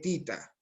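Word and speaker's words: theta: Esta O se lee tita Tita.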